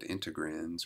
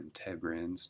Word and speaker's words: integrins: cartoon here we have these proteins called integrins or integrins depending on who you here pronounce it but these are transmembrane